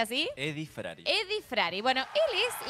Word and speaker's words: Eddie Frari: con nosotros eh Eddy frari Eddie frari se pronuncia así Eddy frari Eddie frari bueno él es la persona que